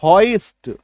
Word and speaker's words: hoist: HOIST हॉइस्ट, ठीक। अब इसका उच्चारण आप कहीं कहीं डिक्शनरी में आप देखेंगे